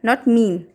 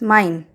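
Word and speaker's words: mein: When I follows E, then these two letters together will be pronounced as I of English. I of English. For example, zum Beispiel, mine. Here I is following E. So mine, not mean.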